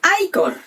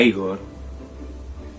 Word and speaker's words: Igor: sting para el papel de higos no se pronuncia icon a igor para el papel de frau mujer para el